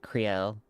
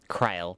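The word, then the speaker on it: Krile: Creel, you will always be welcome here, Cryle. Cryle, sorry.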